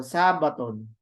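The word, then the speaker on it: σάββατον: Sabaton good or Sabaton remember Sabbat so Sabaton so the the the uh accent is in the in the Alpha and the guides are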